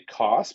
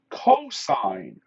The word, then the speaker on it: cosine: have cos theta now it's not actually cos because just like sin was a short form for sine cos is the short form for cosine this is the cosine